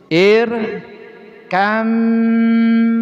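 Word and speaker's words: ارْكَب مَّعَنَا: Maksudnya lafaz irkab makna sebelum diidgam dibacanya di sini ada bunyinya bunyi apa? Bunyi qol qalqalah. Tapi setelah bacaan irkab makna diidgamkan bnya masukkan ke mim kemudian tasdid tuh jadi ir kam maana irkam maana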